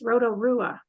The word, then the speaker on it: Rotorua: did a great job standing it out it's Roto Rua Rotorua this way at least that's how I was